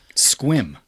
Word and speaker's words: Sequim: No, they are from Sequim, Washington. Squim. It's S-E. It's pronounced.